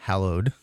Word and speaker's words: hallowed: I was like caves, like it's hollow, hallowed. hallowed. Okay, well, see, to me growing up, it's hollowed. Yeah. I was like. Well, that's how it's spelled, is HA, hallowed.